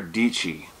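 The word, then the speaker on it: Dietschy: her name is Sarah dici that's her name right there Sarah dici and she says on the beginning of her vlog it says rhymes with peachy easy to remember and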